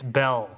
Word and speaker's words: Beale: mispronounced your last name it's belle right yeah but it is but it looks just like beale so i i totally